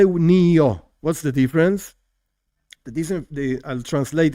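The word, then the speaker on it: נהיה: There are different ways of pronouncing this. Some say niye, but we in Chabad say nio.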